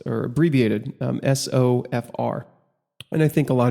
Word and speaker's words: SOFR: It's pronounced or abbreviated SOFR, and I think a lot of people just call it SOFR.